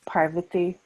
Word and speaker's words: Parvati: And also, quick note, it's Parvati. Accent is on the PAR.